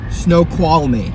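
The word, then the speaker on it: Snoqualmie: How do you say the uh snow quality?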